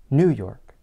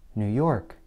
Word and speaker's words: New York: of a place name what would happen if the stress were placed on the first word it might sound something like this new york new york such a pronunciation might